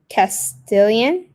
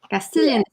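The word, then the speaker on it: Castilian: mean I think I mispronounced c castian as a language because it's castillan Spanish right or am I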